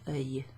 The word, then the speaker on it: œil: If you say it together, it sounds like you're saying annoy. Give it a French, the word annoy to annoy someone. So if you give it a French accent, annoy, annoy.